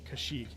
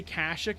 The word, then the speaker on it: Kashyyyk: They say Kashyyyk in this game because this game actually predates Kashyyyk being in any of the movies. So they didn't know how to say it. So it's Kashyyyk in the game, but it's Kashyyyk in reality.